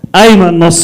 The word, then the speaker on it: Iman: Please put your hands together for Iman. Keeping going for my homeboy Omar. And thank you for pronouncing my name in the proper Arabic way.